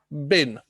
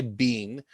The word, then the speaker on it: been: my god it is it's supposed to be bin but because the language is so global that is one pronunciation if you say being that's okay don't worry about that that's absolutely fine but the dictionary which